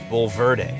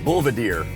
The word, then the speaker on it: Bulverde: name of this town written how would you pronounce it B Verde you you would have gotten it right well most people most people don't most people say like Bader or bedre I'm thinking from more of a Spanish point